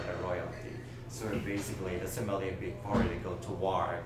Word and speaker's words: sommelier: I don't want to pronounce it the wrong way, but it's Somalia. No, it's sommelier. Sommelier. Sommelier, exactly. What is that? French? Sommelier, it's a French word.